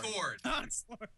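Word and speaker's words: Concorde: Concord. Concord. It's two syllables.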